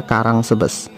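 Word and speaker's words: Caransebeș: Ya, kalau dibaca di Indonesia Karang Sebes.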